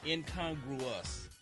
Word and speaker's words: incongruous: It's incongruous.